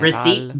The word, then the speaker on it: receipt: Receipt, the P is silent.